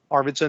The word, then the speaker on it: Arvidsson: very very well uh arvidsson is the way most americans say that out arvidsson is the swedish way i am at least